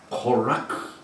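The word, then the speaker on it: קֹרַח: 적 그리스도의 모욕이 됩니다 고라 히브리 바람보는 코라크이 굉장히 발음하기 힘든 코라크 이렇게 합니다이는 저명한 레위 자손의 이름입니다뿐만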